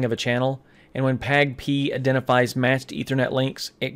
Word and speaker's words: PAgP: Now the PAGP is pronounced PAGP.